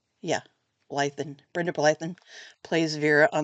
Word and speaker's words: Blethyn: I really love the character of Vera that's portrayed by Brenda I think it's Blethyn is how you pronounce her last name. Yeah. Blethyn.